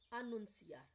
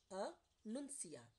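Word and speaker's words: anunciar: Announce is annunciar. Annunciar. Here ci sound as c.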